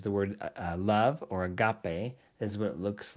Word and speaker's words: agape: word study there's the word uh love or Agape is what it looks like in Greek and that's how you pronounce agape and it's a noun meaning charity